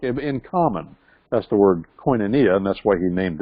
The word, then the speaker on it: koinonia: a ministry called it see if I cannot pronounce Koinonia house yeah let's say that again Koinonia and that's the Greek word in first John